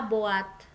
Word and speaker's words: boîte: OI dibacanya OA. Boîte ya. Jadi E-nya nggak usah disebut, cukup lemparan dari lidah gitu ya.